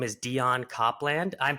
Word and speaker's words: Copland: her name is Dion Copland I'm pronouncing that Ray correct um yeah well it's Copeland but like Copeland okay uh like Douglas Copeland oh wow okay and